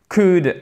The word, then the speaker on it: could: Could, on ne prononce pas le « L », évidemment.